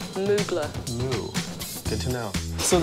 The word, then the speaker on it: Mugler: How do you pronounce Mugler. It? Mugler. Mugler.